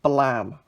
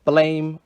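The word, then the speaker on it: Blame!: And the final complete series that I have got in the last 3 months is Blam, or Blame, or however you want to pronounce it, in these massive master editions, 1 to 6, I've got all of it.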